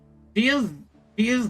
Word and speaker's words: Dehya: Honestly, Dehya's brigade?